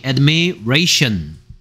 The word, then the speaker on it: admiration: tion의 발음은 shion이고요. admiration.